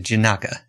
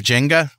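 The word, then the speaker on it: Jinaga: uh the the other open source project is pronounced janaka uh it's oh what did I say Jenga yeah yeah yeah yeah it's not the the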